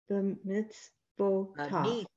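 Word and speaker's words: בְּמִצְוֹתָיו: When the V has a Shabbat in front of it, it gets to have its own V sound plus its own vowel, which is a long O. Ba-mitzvotav. B'mitzvotav.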